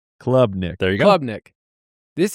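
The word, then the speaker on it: Klubnik: They have Clubnik. Like, find me on the club. All caps, C-L-U-B, for the pronunciation. Clubnik.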